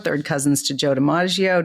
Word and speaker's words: DiMaggio: So, my name is Debbie Deaggio, third cousins to Joe Deaggio. just sometimes people get my name misspell my name or mispronounce it. So if I say Joe Deaggio they get it.